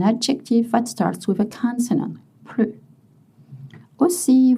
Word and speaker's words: plus: Plus aussi. Vous ne prononcez pas le S quand la signification est not anymore, no longer. Je ne mange plus de viande.